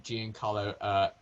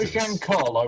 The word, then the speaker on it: Giancarlo: Is it not Giancarlo rather than Giancarlo? I think it is Giancarlo. It's not Giancarlo. No, it is, isn't it? Giancarlo. That's how it's spelled, but I believe it's pronounced Giancarlo. Giancarlo, yeah, Giancarlo.